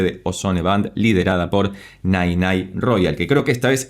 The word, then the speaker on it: Nene Royal: Nirvana por parte de Ozone Band, liderada por Nay Nay Royal, que creo que esta vez sí lo estoy pronunciando bien porque me dejaron aclarado, y gracias